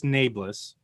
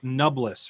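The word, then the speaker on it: Nae'blis: I pronounced this Neblis. If you didn't see, there was an episode of the Dusty Wheel where they went over pronunciations from the Wheel of Time according to Robert Jordan. And apparently it's like Nubless or something, which I've got this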